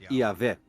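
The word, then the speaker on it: Jahwe: seu nome pessoal que costuma se pronunciar ea ver o autor dos trechos com nome e avec em alemão escreve se com j foi chamado de j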